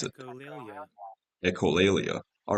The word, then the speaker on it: echolalia: Okay, and this is how you pronounce it. Echolalia.